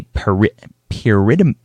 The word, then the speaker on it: pyrimidine: Pyrimidine.